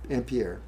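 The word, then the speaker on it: Ampère: Actually, it's named u named after Andre Mier Ampier.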